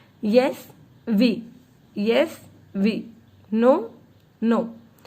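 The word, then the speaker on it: non: No. We don't pronounce the last consonant.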